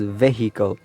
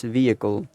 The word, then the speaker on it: vehicle: Okay, many students and people pronounce this word wrong as vehicle. So it's not vehicle, it's vehicle, vehicle, vehicle, right?